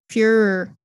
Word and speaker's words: Führer: Oh, Führer.